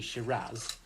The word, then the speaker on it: Shiraz: So in Australia, they call the variety Shiraz, and pretty much in the rest of the world, they call it Syrah, which is spelled Syrah. So different spelling, different pronunciation, but the same grape variety.